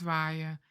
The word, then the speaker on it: waaien: Read along when I pronounce these verbs and mimic my sounds. Regenen. Waaien.